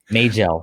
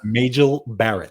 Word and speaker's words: Majel Barrett: Majel. It's Majel. Majel Barrett. Yeah, Majel. I was always Major. I thought they were calling her Major. I was like, Major. Majel Barrett.